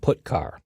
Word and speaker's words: putchar: The 2 most common C language character I/O functions are getChar and putChar. That's how I pronounce them.